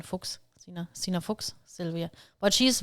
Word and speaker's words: Fuchs: Fuchs. It's like Fox. Fuchs. Like the fox. Okay. the animal, but it's in German, Fuchs, Sina Fuchs, Sylvia.